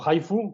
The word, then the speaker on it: HIFU: HIFU o HIFU, como se pronuncia en inglés, o FUS.